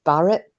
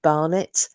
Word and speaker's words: Barnett: living partner, whatever, Joseph Barnett? He was also, sometimes it was mispronounced as Barrett. So Joseph Barrett or Joseph Barnett.